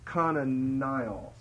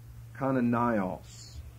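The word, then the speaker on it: Kananaios: The Greek behind Matthew and Mark is Kananios. I'll spell it in English for you. K-A-N-A-N-A-I-O-S. Kananios.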